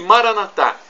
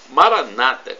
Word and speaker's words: Maranata: E Maranatá, como dizemos nós católicos, com a tônica na última sílaba, do dialeto de Jesus, o aramaico. Ou Maranata, com a tônica na penúltima sílaba, como dizem os nossos irmãos separados, os evangélicos ou protestantes.